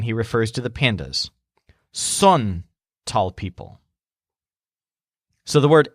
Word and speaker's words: son: he says when he refers to the pandas son tall people so the word s o n is pronounced son and it means they are now